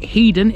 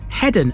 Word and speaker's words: Hedon: Eastern side of the city despite calling it heeden in the intro the locals pronounced this headen as originally it was spelled with 2DS although